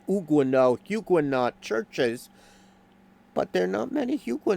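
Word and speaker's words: Huguenot: at least have uh huguot should be pronounced uguo hugut churches but there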